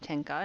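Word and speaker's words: 天下: under heaven tian shah that's how those two characters are pronounced tenka in japanese should be ruled by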